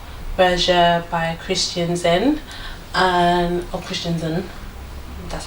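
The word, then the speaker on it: Christensen: I'm wearing Rotate Berger by Christian Zen, or Christian Zen, that's how you say his name.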